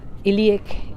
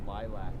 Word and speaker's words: lilac: Yes, I think iliac. It's called iliac. Yes. No, it's not lavender at all. It's iliac. Thank you, Eric. Yes. What? It's lilac. Lilac? Oh, lilac. Sorry, lilac. Pronounce. Thanks for correcting me.